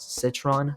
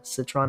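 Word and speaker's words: Sitron: Obviously, you're going to want Citron. Citron, I believe, is how you pronounce it.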